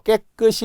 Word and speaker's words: 깨끗이: 시옷의 이는 100% 시옷이 올라가서 시로 발음하겠죠.